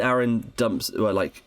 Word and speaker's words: Aaron: It is Aaron because it rhymes with Karen, and I think that in the stage musical they do like a joke about that.